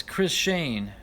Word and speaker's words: Chris Zhang: Chris Zhang is pronounced as Chris Shane.